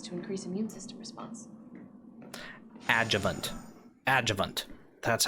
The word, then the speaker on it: adjuvant: Adjuvant.